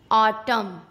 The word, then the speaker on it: autumn: किसी वर्ड में एम और एन दोनों एक साथ आते हैं तो एन साइलेंट हो जाता है। भाई क्यों? रूल कहता है इसलिए। एम एन एक साथ हो तो एन को चुप रहना पड़ता है। ओके। जैसे AUTUMN, ऑटम, column, dam, hymn.